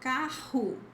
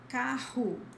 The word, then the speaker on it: carro: word, and it always has the same sound, which is the strong H, the strong H sound. So, carro, carro, which is car.